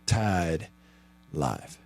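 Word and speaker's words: TYDLYFE: Tide life. And when it's spelled like that, see, even though you you pronounce the letter Y as Y, you can't say tide.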